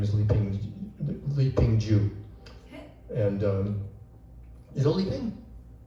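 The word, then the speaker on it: Li Ping Zhu: Oh, Li Ping Ju, yeah. We actually did a seminar together in Tassajara. Spell that, please.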